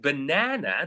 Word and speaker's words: banana: focus on it right for the word banana the second syllable you will notice from my pronunciation the word na or the syllable Now the second one receives more stress.